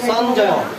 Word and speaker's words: সঞ্জয়: কূর্বত সঞ্জয় সঞ্জয় সঞ্জয় অন্তস্থ উচ্চারণটা পূর্ণ উচ্চারণ হবে সঞ্জয় বসো যদি নিচে হলন্ত থাকে তাহলে উচ্চারণ হবে অর্ধেক আর যদি হলন্ত না থাকে তাহলে প্রত্যেকটা দ্বর্গের উচ্চারণ পূর্ণরূপে হবে এখানে অন্তস্তর নিচে হলন্ত নাই সেজন্য কি হবে সঞ্জয় সঞ্জয় ঠিক আছে তুমি